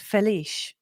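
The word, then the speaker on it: Félix: Felix is pronounced Feliz.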